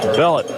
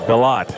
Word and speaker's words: Bellott: Aiden Bellett on the tackle for West Monroe. He gets in the ball game and makes it Bellott is how you pronounce that last name.